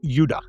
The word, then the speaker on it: Judah: More properly pronounced Judah, because we didn't get the harder sound to the J until about 200 years ago, is what I would call real Jews, people from the tribe of Judah.